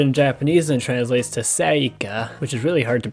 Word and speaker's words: Celica: Celica, Celica, Celica, Celica. So to understand this, we need to look at the origin of the name, because it actually comes from a Latin word, Celica.